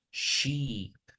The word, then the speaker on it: sheep: Aún más confuso es que aquí tengo una E, pero se pronuncia como una I latina, ¿verdad? Es decir, no digo shape, sino sheep.